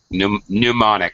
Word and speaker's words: mnemonic: of this uh monic pneumonic it starts don't pronounce the beginning M the beginning m is silent what's the purpose actually